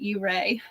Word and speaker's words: Ouray: Hooray for Ouray. Yeah, we learned how to correctly pronounce it. Ouray. It's spelled Ouray. Yes. Ouray.